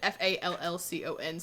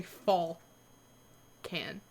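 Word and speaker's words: Fallcon: him i spell it i spelled it f-a-l-l-c-o-n so i wouldn't say falcon so i'll say fall can uh f a double l c o n fall con i did that's right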